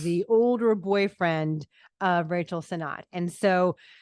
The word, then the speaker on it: Sennott: Is it Rachel Sennott?